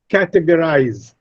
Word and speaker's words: categorize: There are 4 syllables, but out of these 4 syllables, the first syllable is stressed, absolutely, or categorize, ca is stressed, educated, a is stressed.